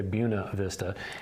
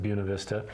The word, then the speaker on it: Buena Vista: buena vista colorado and yes i did say buna vista it is spelled buena vista but coloradans pronounce it buena vista uh we went up there you got to